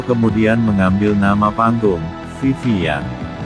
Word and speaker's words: Yang: Tan Kim Nio kemudian mengambil nama panggung, Vivi Yang. Nama keluarga Nyo dalam dialek Hokkien diucapkan Yang dalam bahasa Mandarin.